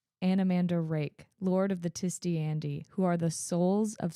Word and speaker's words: Tiste Andii: Just pronunciations going forward. Oh, yes. Tiste Andii. Tiste Andii.